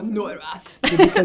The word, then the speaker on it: Neurath: Okay, Because- Otto Neurath, which I'm not entirely clear on how to pronounce, dear listeners. So I'm just going to do my best German accent.